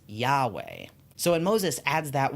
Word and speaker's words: Yahweh: One of the ways that English speakers have tried to pronounce this name over the years, though, is Yahweh.